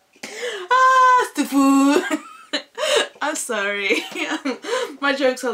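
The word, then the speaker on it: STFU: Like, stufu. That's how I pronounce it, you know, when people say shut the fuck up. I don't say shut the fuck up, I just pronounce it stufu. Ah, stufu.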